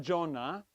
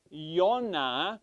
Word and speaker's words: Yonah: But you see, it's not Jonah. That's the modern English pronunciation. It is actually Yonah, which is correct. Which means is Hebrew for dove.